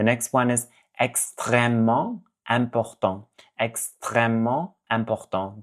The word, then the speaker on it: extrêmement: Extrêmement important. That ment sound, nasal sound, extrêmement important.